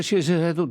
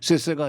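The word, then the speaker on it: 谢谢: 그런 중국하고 거리를 두자는 게 뭐 아니 중국한테 시세해도 되고 그다음에 더 대만한테 시세해도 된다. 이제 중국 원 발음은 세세가 아니라 시세.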